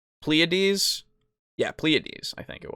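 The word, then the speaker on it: Pleiades: that word uh ple pleades oh okay sorry pleades I looked it up uh so a band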